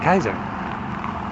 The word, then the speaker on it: Kaiser: You know, probably that dude from Germany, Kaiser Wilhelm. Yeah, Kaiser Wilhelm. Kaiser means king, or Caesar, Kaiser. And you say, the way you say Caesar is with the K, Kaiser.